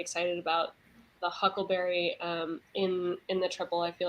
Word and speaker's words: Tripel: restaurant called the Triple, it's spelled like the beer, TRIPEL, and people always call it the triple or the tripel, and then I just say no, like the beer, and then a